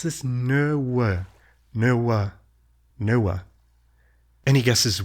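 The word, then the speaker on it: nöwë: I'm going to try and pronounce this. No way.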